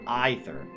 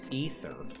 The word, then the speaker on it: Aether: an eye for Aether that's what makes you think that it's pronounced an eye for either but it's actually I forget ether is how the voice actor said in this game right